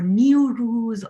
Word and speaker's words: Nowruz: And the word Nowruz or Newruz or some other pronunciation is just a combination of two words, as I told you.